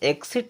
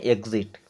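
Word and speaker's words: exit: ई एक्स आई टी इसे एक्सट नहीं पढ़ते हैं बल्कि हम क्या पढ़ते हैं एग्जिट क्या पढ़ते हैं एग्जिट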